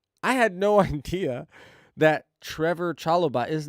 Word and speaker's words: Trevor: that's what it is it's just Trevor and not trevo because everybody calls him Trev I can't I don't